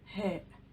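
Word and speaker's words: هاء: The letter he. He. It is like the letter H in the word he in English.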